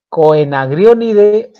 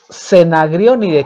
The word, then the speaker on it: Coenagrionidae: La familia es Coenagrionidae o Cenagrionide, quitándole la O en la pronunciación.